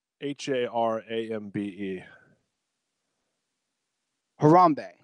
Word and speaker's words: Harambe: it why we're talking like how do you pronounce har a MBE Harambee Harambee yeah I had to do a little deep